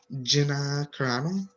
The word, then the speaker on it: Carano: How do you pronounce her name? Gina Carano.